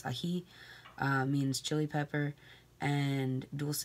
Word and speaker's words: ají: chili pepper, because ají, or yes, the accent is on the I, so it's ají, means chili pepper, and dulce, of course, means sweet.